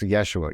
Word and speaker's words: Yeshua: pronounced Yeshua. Yeah, but that's kind of the Yeshua is the Aramaic.